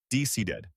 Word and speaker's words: decided: In decided, the verb decide ends in a D sound, so we add a whole new syllable, id. Decided.